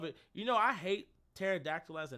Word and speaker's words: pterodactyl: Pterodactyl. Pterodactyl. Bitch, what you mean? It's pterodactyl. It starts with the letter P. Like, as a kid, I will never. Well, the P is silent.